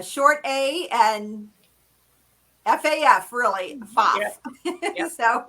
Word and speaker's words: Pfaff: And they'll say Pfaff or Pfaff or so the P is silent, and it's just Pfaff. It's Perfect. A short A and FAF, really, Pfaff.